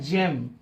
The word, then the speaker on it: gem: GEM, यहां पर इसका उच्चारण होता है जेम।